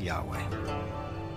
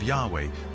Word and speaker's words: Yahweh: and his name was these four letters which in English would be YH wh which we think were probably pronounced something like Yahweh but Yahweh only appears